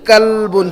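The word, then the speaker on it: كلب: اور یہ کتے کے لیے جو لفظ ہے یہ کلبن، چھوٹی قاف سے.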